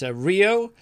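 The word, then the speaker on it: Ryo: It's Rio Hisatuni. Rio Hisatuni. The 2023 European Tour Rookie of the Year. Just how it's spelled.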